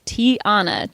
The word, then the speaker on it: Tiana: I'd be like it's Tiana. Tiana. Like a tiara but with an N.